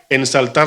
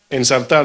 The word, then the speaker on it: ensartar: ustedes usan este término, los dominicanos decimos ensaltar la aguja. Así dicen en mi campo, ¿no? ¿Cómo dice usted? ¿Ya? ¿Quién habló por allá? ¿Cómo se dice? Ensartar, ¿no? Así se dice.